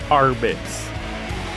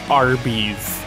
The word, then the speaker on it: Arby's: call the roast beef sandwich fast food restaurant Arbiss. And I say, yes, that's correct. Then Gaddafi says, well, in Earth 1, it's pronounced Arby's.